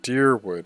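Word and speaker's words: Dyrwood: other scattered caravaners die deerwood is how you say this okay i was wondering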